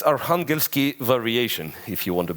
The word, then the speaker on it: Arkhangelsk: Arkhangelsk, that's how the city is called in Russia, and the variation is